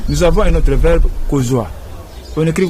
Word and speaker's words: kozwa: Nous avons un autre verbe, kozwa. On écrit kozwa comment? Kozwa, on écrit K-O-Z U-A. C'est ça. Oui. Kozwa, ce n'est pas comme ça. On prononce bien à lingala kozwa. On dit kozwa.